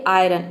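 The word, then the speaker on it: iron: अपवाद है जैसे कि पहला वर्ड है आयरन आयरन में देखिए आई के बाद आर आया है लेकिन फिर भी यहां पे हम आई को क्या प्रोनाउंस कर रहे हैं आई प्रोनाउंस कर रहे तभी इसका प्रोनंसिएशन हो रहा है आयरन आयरन का मतलब होता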